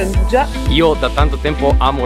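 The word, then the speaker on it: 'nduja: Ho scoperto che non si pronuncia anduia ma si pronuncia andugia.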